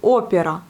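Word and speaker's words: опера: Vous voyez, le mot opéra, c'est opéra. Opéra. Même si on a l'accent à la dernière syllabe, O n'est pas accentué, mais il se prononce comme un O.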